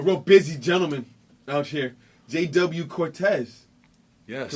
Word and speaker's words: JW Cortez: This is the Sunday Sit Down, and today's guest, a real busy gentleman out here, JW Cortez. Yes. Correct? I pronounced that correctly?